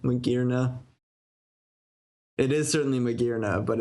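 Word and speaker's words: Magearna: It's hard to suss out how to pronounce it unless you think, oh, it's because it has gears.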